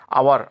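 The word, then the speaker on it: hour: आवर आवर में एच ओ यू आर एच का उच्चारण ह नहीं हो रहा है।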